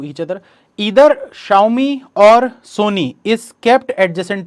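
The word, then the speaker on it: Xiaomi: इसको कुछ लोग जियोमी भी बोलते हैं, आपकी चॉइस है आपको क्या बोलना है। एक्चुअल इसका प्रोनाउंसिएशन जो होता है वो शाओमी होता है।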